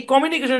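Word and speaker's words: communication: প্রদান করা হয় যেমন এই কমিউনিকেশন শব্দের মধ্যে এই জায়গাটাতে স্ট্রেস আছে খেই এখানে আপনি ওই বিদেশীদের মুখে এই শব্দটার উচ্চারণ শুইনেন দেখেন ক্যামেরা বলে কমিউনিকেশন এখানে এসে একটা জোর দেয় খেই খেই একটা জোর দেয় কমিউনিকেশন কমিউনিকেশন দেইখেন মানে এই এখানে এসে জোর মারে মানে একটু ধাক্কা মারে সাউন্ডটাকে একটু উপরের দিকে তুলে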